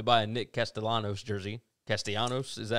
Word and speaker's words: Castellanos: Castellanos, is that how you say it?